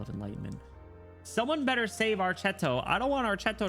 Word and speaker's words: Archetto: Also, I found out her her name pronunciation is technically Archetto. And I'm going to do my best to to to start calling her Archetto.